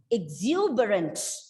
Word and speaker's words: exuberant: is the and rent so the correct pronunciation of this word is exuberant exuberant many words starting with the